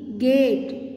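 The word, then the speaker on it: gate: जी ए टी ई गेट, okay, E silent है ना।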